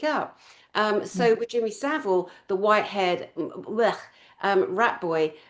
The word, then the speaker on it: Savile: Someone call him Seville. No, we pronounced it Savile.